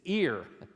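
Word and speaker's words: עיר: The word for city is just like the thing on the side of your head in terms of pronunciation. It's ear.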